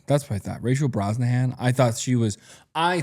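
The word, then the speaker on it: Brosnahan: Rachel Broznahan. Yeah, that's what I thought. Rachel Broahan.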